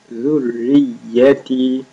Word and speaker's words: ذريتي: That is soft and را and يا both have شدّاز, so you make them double. ذريتي.